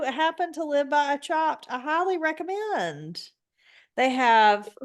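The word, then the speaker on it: Chopt: one before okay so it's called chopped but it's spelled c h o p t and it's a it's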